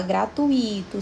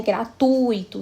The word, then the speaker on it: gratuito: Em todas essas palavras, a sílaba forte vai estar no tui, mas especialmente no U. Então, é gratuito, circuito, fortuito, intuito. Então, essa é a regra que se aplica a essas 4 palavras. O U é sempre pronunciado mais forte no ditongo.